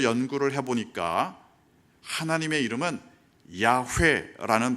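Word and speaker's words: 야훼: 비슷하게 만든 거죠 그게 바로 여호와 여호와 라는 발음이 됐습니다 그래서 지금 우리 성경에는 여호와 라고 하나님의 이름을 기록하고 있습니다 하지만 나중에 학자들이 좀 더 연구를 해보니까 하나님의 이름은 야후의 라는 발음의 좀 더 가깝다 아 그래서 개신교와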